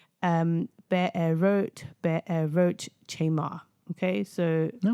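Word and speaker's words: Be'erot chemar: Now the pronunciation um be a wrote be a roach chamar.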